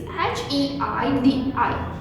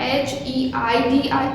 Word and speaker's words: Heidi: So here the spelling of Heidi is H-E-I-D-I. So how you are going to pronounce that H-E-I-D-I? It is not Heidi, it's Heidi. H-E-I is pronounced as high and D-I is pronounced as D.